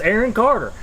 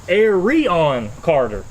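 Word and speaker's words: Arion Carter: I would look at that like oh that's Aaron Carter well that's not how you say his name it's Aron Carter Aron Aon Carter so and by the way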